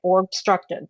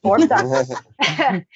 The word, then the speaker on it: Orbducted: I want to say Orbstructed, but it's Orbducted.